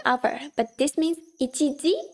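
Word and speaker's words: 一時: The second one is pronounced as ji over here. It's ichiji, 1 o'clock.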